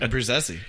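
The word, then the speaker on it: Abbruzzese: Pearl Jam drummer Dave Abruzzi. Sure. How do you say it? Abruzzi? No, that's how I said it. How it's supposed to be said. Abruzzi.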